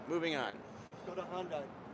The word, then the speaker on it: Hyundai: Go to Hyundai. Hyundai rhymes with Sunday. And don't call it Hyundai, please.